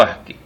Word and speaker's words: ASCII: El código ASCII. Un código ASCII que es el acrónimo en inglés de American Standard Code for Information Interchange, código estándar estadounidense para el intercambio de información, pronunciado generalmente ASCII o ASCII.